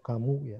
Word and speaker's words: Camus: oleh filosof Prancis, Sartre dan Camus, bacanya kamu ya. Karena orang Prancis itu biasanya tidak mengucapkan yang akhiran huruf paling akhir ya. Kecuali beberapa huruf itu yang dibaca begitu. Ya kayak Camus itu bacanya kamu katanya.